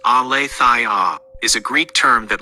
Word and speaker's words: Aletheia: Aletheia, pronounced Aletheia, is a Greek term that literally means unforgetting or unconcealment.